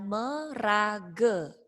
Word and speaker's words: maraga: Tulisnya kan maraga, dibacanya awalan merage.